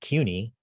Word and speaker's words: CUNY: the q a uh it's pronounced i pronounce it cuny uh so that would